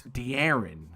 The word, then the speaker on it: De'Aaron: The Aryan Fox. Okay. That's not how you say it. That's not how you say it. But that's De'Aaron Fox or De'Aaron Fox? It's De'Aaron.